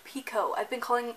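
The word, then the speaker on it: Picoult: Time by Jody Pico that is right is pronounced Pico I've been calling saying piccolt like most of the month and then I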